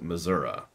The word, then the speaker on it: Missouri: the hook okay so missourians tend to pronounce it Missour it is spelled Missouri there's an i at the end Nevada Nevada same thing